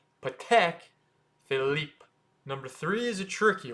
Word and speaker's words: Patek Philippe: is PCH phip however you're not supposed to say pek Philip it's actually pek so short p and then Tech PCH and then it's not Philip it's Philip but a little bit in French so it's Philip PCH